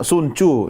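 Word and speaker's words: Sun Tzu: Suncu ya bacanya Suncu ya tulisannya Sunu. Sunzu.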